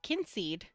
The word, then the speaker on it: Kynseed: Um It's called Kinseed. And I just was noticing that it tells you how to pronounce it.